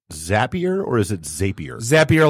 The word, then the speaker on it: Zapier: Zapier like happier.